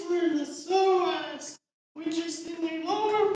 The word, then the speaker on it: psoas: It's spelled PSOAS. And there's two psoas muscles.